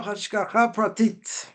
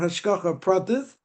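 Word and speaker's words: השגחה פרטית: I think actually all questions are interesting and the question was uh divine providence what we call hashka pratit or if you want to pronounce it yeshivas we call it hashka pratis divine providence who does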